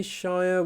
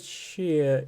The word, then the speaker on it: shire: But yes, we do not say shire, we say shear. We don't even say sheer. Like, we don't really pronounce the R at all.